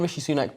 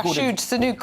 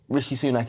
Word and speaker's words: Rishi Sunak: I mean, he did get his name wrong. Yeah, Rashid Sunak or something. Rashid Sunak, I think he said.